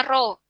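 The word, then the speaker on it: ρ: mengukur massa jenis benda simbolnya mirip seperti huruf P dibacanya ro cara mencarinya masa performa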